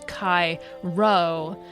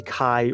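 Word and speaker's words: chi: The letter Kai represents the K sound formed by combining C and H as in Christ.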